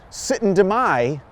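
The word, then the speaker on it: Syttende mai: interesting because actually coming up soon is the sit and deay Festival did I pronounce that right rob you got it thank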